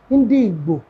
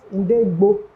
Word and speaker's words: Ndi Igbo: Chukwuemeka, Ndi Igbo, not Inde Igbo.